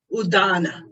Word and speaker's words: udana: So udana, say udana. No, it's a soft dental sound. Da, da, da. Udana. In Sanskrit language, when in doubt how to pronounce D's and T's, always go dental.